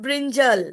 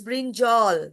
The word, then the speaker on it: brinjal: It is not brinjal. It is brinjal.